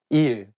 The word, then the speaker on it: 일: So you can use it when you call your teacher, like saying 선생님, 일, day. It has the same pronunciation of the word meaning work.